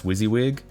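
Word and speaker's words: WYSIWYG: on the screen yes is that how you pronounce wizzywig um it can be I mean if you want to spell it out you can just like if you want to spell gooey out in like GUI um but like I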